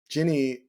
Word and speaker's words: Jinnie: And my name is Jinnie, rhymes with Minnie, and the work that I'm in right now is this wonderful intersection between mental health, faith, and art.